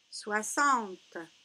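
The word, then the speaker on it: soixante: 60. 60. Regardez, il y a le X, mais on le prononce S.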